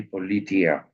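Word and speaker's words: Πολιτεία: Plato was writing a book which in Greek is simply politia. Okay, Politie, Tiea, politia. Okay, politia, that is the pronunciation.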